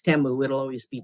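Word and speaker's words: Temu: And I got some things from Teimu or Teu, I think, is how they pronounce it in the commercials. But now, even though I know it's Teamu, it'll always be Timu to me.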